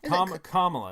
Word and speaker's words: Kamala: I always say her name wrong. Kamala. It's Kamala.